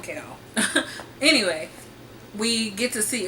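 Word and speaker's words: Chaol: And then we also have Kale, which, like, the audiobook pronounces it Kale, and that might be how you pronounce it, but I think that's kind of silly, so I'll call him Kale.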